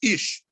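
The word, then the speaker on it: איש: It's pronounced ish, right?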